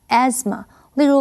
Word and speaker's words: asthma: 这个不可数名词，asthma 是指气喘。注意这里的 s 是发 z 的音，th 是不发音的，念成 asthma。例如 Laura has been suffering from asthma since birth。Laura